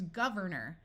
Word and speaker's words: governor: suffix and it becomes Governor notice that the or sound at the end of a word tends to become muffled and sound like er we can add other